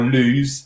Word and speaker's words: Loose: so andy is is in fact at the loose uh or lose is how it's pronounced valley conservation area uh which is in